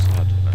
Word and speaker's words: sadhana: The word may be added about the pronouncing of sadhana. The accent falls decisively on the first A, which has the broad sound.